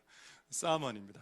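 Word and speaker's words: summon: 저렇게 한자는 저래 돼 있고 영어로는 읽을 때 사먼이라고 읽는다는데 맞는지는 모르겠습니다. 맞습니까? 우리 제가 감히 토익 빵점인데 만점에게 물어볼라 했죠. 사먼입니다.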